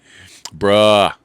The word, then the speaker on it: bro: Bruh. It's spelled B-R-O, but it's bruh. Not bro. Bruh.